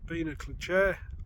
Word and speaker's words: Beinn a'Chlachair: it to Monroe 68 Bea Clair I believe it's pronounced as you can probably